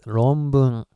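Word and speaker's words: ろんぶん: And as I've said in previous video, N is supposed to be pronounced as M because next one is B, right? So anyway, it's ronbun, which means thesis.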